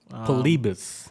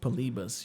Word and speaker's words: Polybius: the uh the urban legend of polybus yes polibus that's how you pronounce it polibus yes for you ricky moore for all you